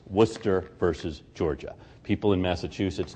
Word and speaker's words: Worcester: don't have to explain to people how you pronounce the name of this case it's Worcester versus Georgia people in Massachusetts know this because